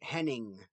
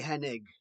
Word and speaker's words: Henig: Kurt Henning. Now, his last name is not or I N I N. So, it's supposed to be Henig, not Henning.